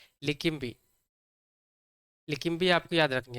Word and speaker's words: Leqembi: लेकिम्बी, लेकिम्बी आपको याद रखनी है, ठीक है।